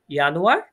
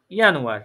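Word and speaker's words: Januar: ইয়ানুয়ার।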